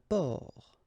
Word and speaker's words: port: Un port. Un port. Okay, exactly the same thing here. Only the last letter is different. You don't pronounce it, and then both of them are masculine.